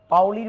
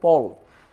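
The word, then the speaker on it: Pauli: দ্বিতীয় নম্বর সেটা হচ্ছে পাউলির বর্জন নীতি। এটা হচ্ছে পল। দেখো PAUL, পল, এটার উচ্চারণটা হচ্ছে পল, যে PAUL, পল। তো আমরা পলের নীতি বলা উচিত, কিন্তু আমরা সবাই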